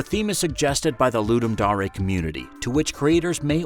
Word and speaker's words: Ludum Dare: Number three on our list is Ludum Dare [pronounced “Loo-dum Dah-reh”].